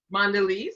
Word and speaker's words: Mondelez: Am I pronouncing that correctly? Mondelez. Mondelez, yes.